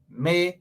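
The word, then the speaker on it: Mae: May has got to go.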